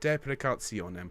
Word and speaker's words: deprecationem: Deprecationem. If you can roll your R's, that would be lovely.